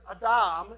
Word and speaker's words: Adam: These are the words that when the Hebrew people would have read this text, or been told this, when they heard Adam, is how it's pronounced, they would have known that to mean human being.